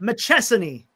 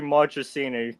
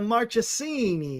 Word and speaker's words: Marchini: Machesan. Oh, you were close. It's It's actually Marchini because I you go off the month of March and then you add that. Gotcha, Marchini.